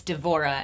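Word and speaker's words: דְּבוֹרָה: that the pronunciation well in hebrew it's devorah and then in english it's deborah yeah so i combine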